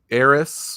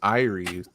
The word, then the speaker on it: Aeres: And you can pronounce it Aeres, like in Final Fantasy VII, or Ares, like the God of War, or the way we pronounce it is Aeres, which phonetically doesn't make sense if you look at the word, but still, so it